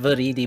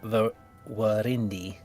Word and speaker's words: Viridi: pronounced Viridi, but he can also be called Virindi because of it's actually Latin.